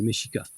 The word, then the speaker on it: Mexica: 16e siècle, c'est les Mexicas. Dans la langue soi-disant aztèque qui s'appelle le nahuatl, le X se prononce comme ch.